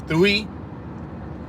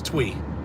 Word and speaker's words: Thuy: For the I thought her name was Thuy, but after attending Kimberly's Q&A panel, apparently the correct way to say it is Twee.